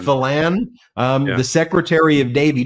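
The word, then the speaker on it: Phelan: I like to say f but well I'll pronounce it right F fan fan um the Secretary of Navy just think about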